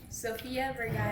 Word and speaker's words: Sofia Vergara: How do you pronounce it? Sofia Vergara. I'm Anglophone. Sofia Vergara. Okay, Vigado.